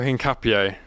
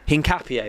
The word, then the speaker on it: Hincapié: Piero Hincapié. Hincapié, there you go.